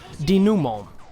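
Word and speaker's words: dénouement: This is the mission 5-1, and according to the Google Translate woman, this is a French word, and it is pronounced DENOUMENT, which I don't even know.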